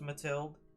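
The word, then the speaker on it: Mathilda: novel released called tilled I think it's pronounced matilde in 1950 that's a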